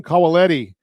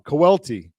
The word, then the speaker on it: Cawelti: now continue our conversation colelletti did I get it right that time I know I've been this pronouncing your name wrong colelletti kawelty kowelty okay so I'm I'm still wrong kawelty everybody everybody gets it wrong I'm polish for